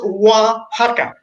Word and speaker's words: Oaxaca: town can't do it it's pronounced wah ha ha is there was one